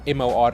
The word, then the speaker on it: Morar: MORAR, as we say, Wendy says the R is silent.